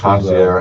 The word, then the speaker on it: concierge: Concierge extraordinaire. That's right. Extraordinary. Thank you. I want to know from somebody out there, am I saying it wrong? Is it supposed to be concierge? It's either way.